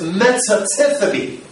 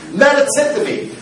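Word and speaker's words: μετατίθημι: The word translated is metatithemi. I pronounced it right this time. Metatithemi, which means to be translated.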